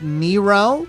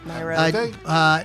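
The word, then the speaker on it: Nyro: Laura Nero. Nairo. I was called Nero. It's Nairo.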